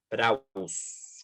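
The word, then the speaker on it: πραΰς: que diga como suave la palabra en griego para manso se escribe prauss con acento en la u como para darle ahí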